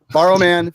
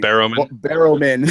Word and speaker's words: Barrowman: Borrowman Fan. And I said it wrong. She's going to rip into me. Barrowman.